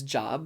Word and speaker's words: Job: jump into job uh yes it's spelled j-o-b might be more easily read as job but is typically known as job and job has traditionally